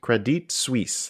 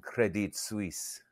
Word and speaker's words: Credit Suisse: ah credit Suisse Credit Credit Suisse that is pronunciation thanks coil spotting if you pretend you're French and you have a cigarette in your hand it's Credit Suisse Credit Suisse okay uh uh well